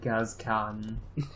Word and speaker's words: Gascoigne: What a mensch that Gascon. That Genghis Khan. It's pronounced Genghis.